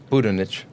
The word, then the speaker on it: Budinich: Budinich.